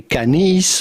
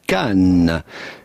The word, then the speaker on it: Cannes: Well, first you have to know that the S at the end of Cannes is definitely silent. So do not say Canis or Cannes, but rather simply Cannes. Cannes.